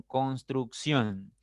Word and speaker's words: construcción: Pasa lo mismo con construcción. Tiene 3 sílabas, pero la mayor fuerza, la mayor intensidad está en ción. En la primera sílaba contando de derecha a izquierda. Por lo tanto, es una palabra aguda.